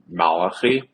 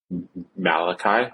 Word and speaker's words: Malachi: is um you know my name in Hebrew as you call me is pronounced malafi and that's always been a really hard name for me to say um and so I've gone by other names and introduced myself as other names like Malachi which is how you pronounce it in English or or I